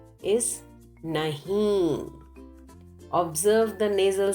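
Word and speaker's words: नहीं: No or not is nahi. Observe the nasal sound nahi. Underline N, not to be pronounced, only indicating nasal sound.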